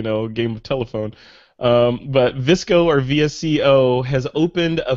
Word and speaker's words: VSCO: know that yeah I've never heard it pronounced so that's good and now I know it's PR visco I know don't hold